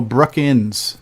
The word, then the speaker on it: Brookins: By the way, my last name does not have the letter G. Oh, it's Brookins.